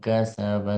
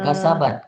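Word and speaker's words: كسب: Bala man kasabat sayyi'atan wa Bukan kasabat, kasaba, bukan kasabat, kasaba.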